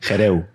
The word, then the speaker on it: Gerehou: si vamos allá ok moja y hereu se pronuncia hereu moja xerez bienvenido a